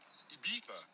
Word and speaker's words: Ibiza: I just went to Spain, that's a Ibiza. Ibiza. Yeah, it's pronounced Ibiza, actually. What's the difference, man?